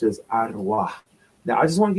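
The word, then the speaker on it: ערוה: It'll say v, but it's a wa. And the last character is a like a h. So the word that's pronounced is ara.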